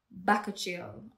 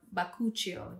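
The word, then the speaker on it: bakuchiol: it with two percent baka chill or bakuchio whichever way you want to pronounce it no bakuchel is a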